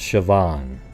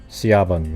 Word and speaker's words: Siobhan: there and I guess her her name is pronounced Shian not caban like I just said okay thank you for